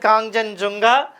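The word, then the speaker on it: Kangchenjunga: We have to pronounce like that Kongjan Junga.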